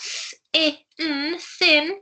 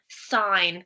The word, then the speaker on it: sign: It's not sin. It's I, sign. Good job, everybody. That G and the N working together to make that sound at the end of the word this time.